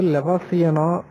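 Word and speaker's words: Levallois: அடுத்தது லெவாசியனோ லெவாசோ என்கிற பிராஞ்ச மொழி உச்சரிப்புதான் கற்கருவி செய்யும் மரபு இக்காலகட்டத்தை சார்ந்ததுதான் என்று சொல்லுகிறாங்க.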